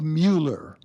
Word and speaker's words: Mueller: "Lloyd Mueller," said Dave from the boss's chair, correctly pronouncing that man's last name like a castrated donkey.